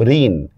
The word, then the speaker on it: ঋণ: যেমন দেখেন আমি একটা শব্দ বললাম ঋণ। তো ঋণ বানানে দেখেন মধ্যন্য আছে। কিন্তু আমি উচ্চারণ যখন করতেছি তখন কিন্তু ঋণ বানানে আমি দন্তন্য দিচ্ছি।